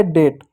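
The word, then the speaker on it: date: इसलिए ए की मात्रा, टी का ट हो गया, ई साइलेंट हो गया डेट।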